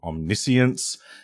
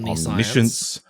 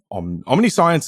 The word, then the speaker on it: Omniscience: into play, and speaking of, this card is pronounced Omniscience. If I hear another person say Omniscience, Omniscience is fine.